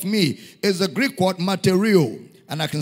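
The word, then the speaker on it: μαρτυρέω: Is a Greek word, matereo. And I can spell it for you.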